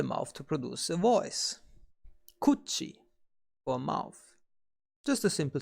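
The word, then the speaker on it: 口: The kun reading is kuchi.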